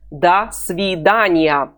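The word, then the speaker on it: до свидания: svidaniya the svidaniya let's say together I will pronounce it slowly and you will repeat it after me da sorry Danya dasvidaniya how do you say goodbye in the Russian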